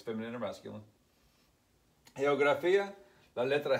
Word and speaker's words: geografía: G-E-O-G-R-A-F-E-A, geografía. Although you have a soft G and a hard G, it's still the letter G, right?